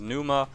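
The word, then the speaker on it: Pneuma: Now, there's a lot of ways to pronounce this skill. I call it Phenuma. Other people calls it Numa.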